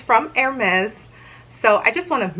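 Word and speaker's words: Hermès: how you pronounce it hermes is a proper french name so you should pronounce it air mezz almost like there's a z at the end so i purchased this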